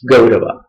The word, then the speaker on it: Kaurava: Instead of Ga, we will write as Ka, isn't it? And we will speak it as or pronounce it as Gaurava.